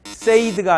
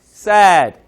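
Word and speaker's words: said: 페이드 하시면 됩니다 자 그런데 이거는 같은 모양을 띠고 있지만 이것은 세이드가 아니라 sad sad set이죠 그죠 그래서 같은 형태를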